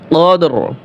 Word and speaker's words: القدر: কদর শুধু র উচ্চারণ হবে, রয়ের সাথে যে জবর জের পেশ থাকবে, এই হরকতগুলি ওয়াকফ করলে উচ্চারণ হয় না, শুধু হরফটা উচ্চারণ হয়।